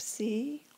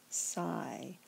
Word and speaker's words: psi: Again, this letter might be pronounced psi or psi.